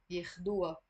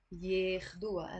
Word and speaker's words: ياخدوها: take her ياخدوها so the ha here means her but the ha because it's a possessive ending in the Lebanese dialect you can avoid pronouncing it and immediately after the waw you're pronouncing the alif that's why it sounds wa ياخدوها ياخدوها and the alif here I'm pronouncing it as a e كرمال يجوا ياخدوها so